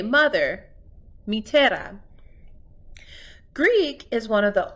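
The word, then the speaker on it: μητέρα: yes ooh this is how you say mother matera Greek is one of the oldest spoken languages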